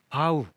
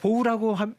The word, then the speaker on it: bow: 활쏘기 안에서만 경쟁을 한다 bow는 바우 저라다 인사하다 그러니까 보우라고 발음을 하면 활이 되니까 바울하고 발음을 해야 된다 그랬죠 they your the